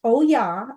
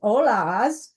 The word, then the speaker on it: Ollas: It's pronounced Oya, although over the years I have pronounced it as Ollas, not realizing that I was incorrect in that.